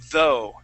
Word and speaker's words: though: practice that so uh with that th sound you're going to uh you're going to stick your tongue between your top and bottom teeth okay gonna say though though good all right so